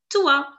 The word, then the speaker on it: toi: If S-O-I is sua, then T-O-I becomes tua.